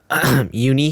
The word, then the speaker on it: Uni: Wait, pronounce his name again? Uni. Dude, Uni, bro. I know, it was a Yeah. meme because I pronounced his name like Rooney, bro.